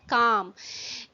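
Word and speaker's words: calm: हमारा फर्स्ट शब्द है कम इसमें जो लेटर ल है यह साइलेंट है हम इसको कम नहीं पढ़ने हैं ये है कम कम लेटर ल इसमें चुप है साइलेंट है और इसका हिंदी में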